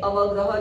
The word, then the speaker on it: अवग्रह: उसका प्रोनाउंस होता है अवग्रह, जैसे एस जैसा दिखाई देता है।